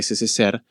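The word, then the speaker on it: СССР: Es s CCSP que en realidad se pronuncia SCR, eh, y que inmediatamente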